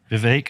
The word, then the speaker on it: Vivek: Rama Swami Rama Swami Vivek like cake Vivek that's enough of X